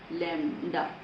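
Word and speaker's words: lambda: लैम्डा। B silent होता है लैम्डा।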